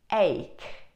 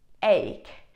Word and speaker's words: ache: But sometimes CH is actually k, k, k.